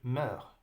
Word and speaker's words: meurs: d'accord alors on dit meurs meurs d'accord on ne prononce pas le s meurt on dit ma